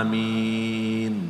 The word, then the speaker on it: amin: dia mentafsirkan Surah Yasin Dia berkata Amin dibacakan seperti Yasin Bagaimana cara baca Yasin Hai Yasin Oh gitu ya yo yo yo syin benar ya Hai Yasin Hai Amin bukan Om Hai patuh amin amin